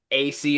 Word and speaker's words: Asay: AC is spelled ASAY.